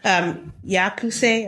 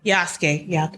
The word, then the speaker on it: Yasuke: Yakuse or Yasuke. Yasuke.